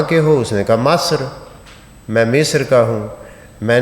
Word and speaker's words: مصر: ان ملک کو بھی مصر کے بجائے مصر، یعنی زیر کی بجائے جہاں زیر ہونی چاہیے اس کو زبر پڑھ رہا تھا۔ لہذا اس لیے میں